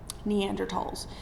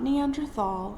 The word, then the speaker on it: Neanderthal: Neanderls. So it is pronounced Neanderl. It's not Neanderthal.